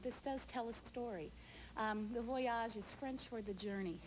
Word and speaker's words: Le Voyage: La Voyage. No, it's Le Voyage.